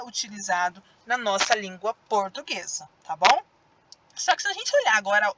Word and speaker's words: língua: embaixo língua de novo língua é o som mais forte foi da sílaba lin outra coisa a fila